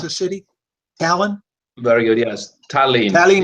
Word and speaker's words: Tallinn: Is that how I pronounce that? It's a city, Tallinn.